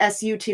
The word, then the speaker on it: Sat: when we go set it's spelled SAT but we say like sut like sucked it's up and